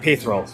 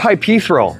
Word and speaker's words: Hypaethral: Hyperal. Hyperal. Oh my god. Um, you were just adding extra vowels that aren't there. So, it's not hyperil. It's hyperal.